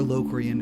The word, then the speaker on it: Locrian: This is in Locrian, this is in Locrian, or Locrian if you want to pronounce it that way. But you know, tomato, tomato, right?